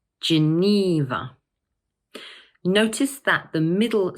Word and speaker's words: Geneva: This word has three syllables, and the middle one is stressed, Geneva. Notice that the middle syllable is a long E sound. So we say Geneva. One more time, Geneva.